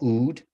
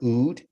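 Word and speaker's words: אוד: this idea of here, which you would call Ood. That's how you pronounce this right here, Ood.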